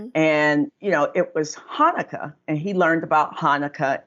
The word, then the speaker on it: Hanukkah: learned that in school but what's chanukkah I'm like it's pronounced Hanukkah and I went through